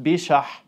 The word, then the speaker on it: Pesach: And some of the words he heard growing up, like Pesach in the Tunisian dialect, that's pronounced Bishah, shows how closely connected both Arabic and Jewish culture were for him.